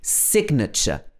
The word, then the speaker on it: signature: signature it should be signature for example can you write your signature here so in this case the g is not silent at all so be careful another